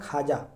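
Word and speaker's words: خواجہ: जैसे ख्वाजा लिखा हुआ है। इसको पढ़ा जाता है ख्वाजा। क्या पढ़ा जाता है? ख्वाजा। इसका सही तलफज़ है ख्वाजा। यानी वाव यहां गायब हो गया।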